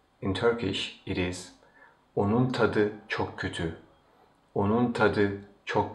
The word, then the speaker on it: tadı: Turkish it is onun tadı çok kötü, onun tadı çok kötü. As you see again, the last T of the word tat changes into D, which is the voiced counterpart of T.